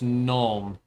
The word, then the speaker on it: gnome: How to pronounce null? Uh, yeah. So, I guess it's some. So, it's gnome.